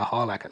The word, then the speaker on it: Harlacher: I literally watched an interview with her a couple of days ago, and she announced herself as Erica Harlacher, so I do apologize for saying her name wrong for such a long time.